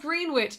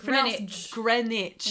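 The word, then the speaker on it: Greenwich: It's not pronounced green witch. No, it's Grenwich.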